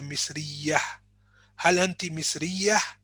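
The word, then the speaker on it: مصرية: an important note that ta marbouta when you finish on it it's pronounced as a ha so al anti misrea so if you don't want to pronounce the ending you say miss riya are you egyptian for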